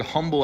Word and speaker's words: humble: Another funny example is the fact that the word humble actually comes from a word that didn't pronounce that H, so it technically should be umble.